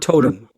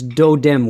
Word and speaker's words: totem: And it's slightly mispronounced, so it's do-dem with the D, it's a softer sound.